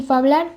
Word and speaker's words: fablar: Ejemplo de ello se encuentra en palabras como fincho, que se pronuncia como hincho, y fablar, pronunciado como hablar.